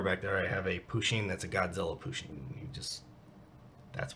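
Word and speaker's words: Pusheen: So I'm guessing a Bushin, sorry if I misspelled it, is like a stuffed cat with different clothing on it. Well, you did actually misspell it. It's Pushin. Poo with a P. U-S-H-E-E-N. Pushin.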